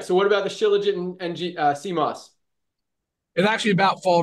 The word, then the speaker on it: Shilajit: And most of these Shilajit products that I've learned that it's pronounced Shilajit, at least how they pronounce it in the Himalayas where it comes from, and it is Himalayan Shilajit.